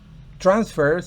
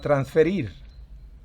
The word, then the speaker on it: transfer: que como regla general los homónimos cuando son un verbo y un sustantivo o adjetivo el primero lleva el acento en la última sílaba y el segundo en